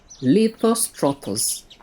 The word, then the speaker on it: Lithostrotos: Lithostrotos.